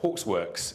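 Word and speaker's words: Hawksworx: deck of a fact naming is hard uh Hawks works is how that's pronounced idiot 25 years ago I thought that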